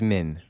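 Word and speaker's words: Mhin: just hin and or or is it Min like Min and the H is silent suddenly no okay I'm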